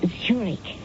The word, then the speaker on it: Zurich: a chair Mrs Zurich that's pronounced Zurich it's in the Swiss city oh I see uh